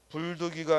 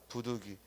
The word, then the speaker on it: 부득이: 또 불당이 아니고 부당 불독 이가 아니라 뭐요 부득이 요런건 한자 도구 문제로